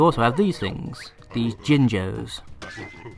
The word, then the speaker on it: Jinjo: these things these jinjos i don't care if i'm mispronouncing that someone will probably tell me off but that's how i pronounce it as a kid so that's how i'm going to keep pronouncing it damn it um yes